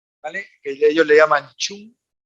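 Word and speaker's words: 寸: Que ellos le llaman chun, Se escribe cum, pero es chun, y abajo sería la equivalencia en milímetros.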